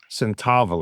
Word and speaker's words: Senethavilay: My name is Centaval. It's a little bit longer. It's only it's only a short 12 letters and four syllables. Not too bad.